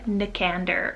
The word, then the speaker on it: Nicander: Another option here, similar to Nicandro, is Nicander, spelled N-I-K-A-N-D-E-R, Nicander almost as well. You can pronounce it in English.